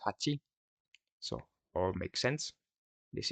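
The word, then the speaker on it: 八: And this character or the number eight is actually pronounced hati.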